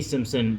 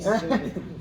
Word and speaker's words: Simmons: Simpson back as J. Jonah Jameson. Simmons, if I'm correct? Or Simmons. I am an idiot. I am. J.K. Simmons. Dude, I said the name wrong earlier.